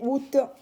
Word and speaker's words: août: de l'année août alors o s'écrit a o u t on ne lit pas le a a o u un accent circonflexe qui ressemble à un petit chapeau sur le U c'est le mois d'août